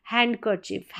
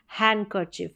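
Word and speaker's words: handkerchief: नहीं हैंडसम होता है हैंड कर चफ हैंड कर चफ गलत है हैंड ड नहीं साउंड यहां पर आएगा हैंड करर चफ हैंड न पे ही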